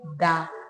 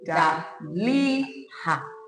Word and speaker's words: Daliha: The pronunciation is Daliha. Daliha. That is how. Daliha.